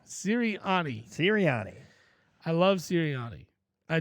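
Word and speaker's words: Sirianni: oh man you love Serana I like Serana serani you making me say his name wrong sirani sirani I love serani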